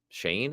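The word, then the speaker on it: Schoen: the story about Joe Shane I think you pronounce his name even though it doesn't look like that uh Joe Shane there you know from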